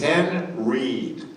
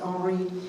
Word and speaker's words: Henreid: to look up was how to pronounce this name. It is Henreid. Absolutely. There we go. I remember for years I would say, Paul Henreid. He's not French. He's not French, but a lot of people assume that, and a lot of people did pronounce it Henri.